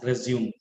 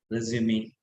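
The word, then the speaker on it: résumé: So do not pronounce this as resume. This has to be pronounced as resume.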